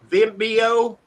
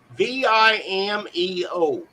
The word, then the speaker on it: Vimeo: channel that he uses is uh Vimbo it's owned by YouTube did I say it right v-i-m-e-o Vimeo there you go thank you John